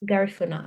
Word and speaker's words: Garifuna: Garifuna? Yes. Garifuna. Okay. Garifuna.